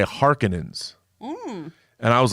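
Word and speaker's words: Harkonnen: you uh this is the second time my pronunciation has been corrected uh in Dune then Evil news Dune I always said Baron harkonen the harkonens yeah and in in vilnews doing they say harkenings and I was like that's a very different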